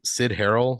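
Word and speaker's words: Cyd Harrell: Sid Harrell, that's spelled CYD.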